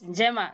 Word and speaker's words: njema: Yes, njema. Yes. So do I pronounce the N? It has to. Yeah, it has to be njema.